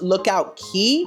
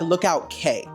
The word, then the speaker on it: Lookout Cay: just like Ariel also people keep saying it's pronounced Lookout key but it's spelled like Lookout K and I have a PhD in mispronouncing words